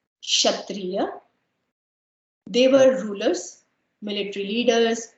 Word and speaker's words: Kshatriya: So here K is silent. Kshatriya.